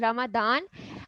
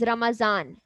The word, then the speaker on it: Ramadan: Well, there are different pronunciations for it. Some do call it as Ramadan, and we call it as Ramazan, right? There is Z at this position, okay?